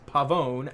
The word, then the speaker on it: Pavón: says yes it is pavón sounds like own so that's that may